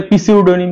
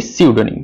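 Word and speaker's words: pseudonym: বলি আমরা 144 সিউডোনিম মনে হতে পারে পিসিউডোনিম কিন্তু না এর উচ্চারণ কি সিউডোনিম সিউডোনিম মানে কি ছদ্দ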